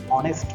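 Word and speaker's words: honest: আমরা কিন্তু হনেস্ট বলি না, আমরা কিন্তু অনেস্ট বলি, অনেস্ট। তার মানে ও শব্দটা ফার্স্টে চলে আসছে, তার মানে আবার ও হচ্ছে আবার ভাওয়েল, এই জন্য এ ব্যবহারের পরিবর্তে আমরা এখানে এন ব্যবহার করব, কারণ আমার উচ্চারণটা ভাওয়েল হয়ে যাচ্ছে।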